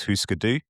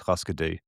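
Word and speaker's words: Hüsker Dü: their name from the correct Scandinavian pronunciation um is Huskadoo. Okay. like the way you pronounce it and given your proximity to Scand Scandinavian languages like I'm confident you're nailing the correct pronunciation. However, however, whenever I've heard the band name said by Americans, it's always Huskadoo.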